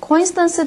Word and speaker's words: coincidence: a coincidence라고 얘기하면 그면 coincidence 되게 중요한 단어인데 강세를 여기 드세요 그래서 발음이 coincidence고 발음하시는 거예요 항상 코가 들어가면 여러분